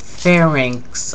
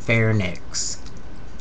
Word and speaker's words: pharynx: Larynx and pharynx are 2 of the most frequently mispronounced terms in medical parlance. And people transpose, so it sounds like larynx and pharynx.